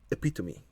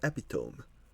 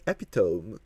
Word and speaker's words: epitome: talk about the word epitomy why is it called like why why would you say epitomy and not epitome when it's spelled like that it makes me so mad okay we are the epitome of this thing no